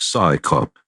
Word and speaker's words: CSICOP: Its acronym, CSICOP, is pronounced Psy-Cop, as if it's an organization of scientists performing a police function.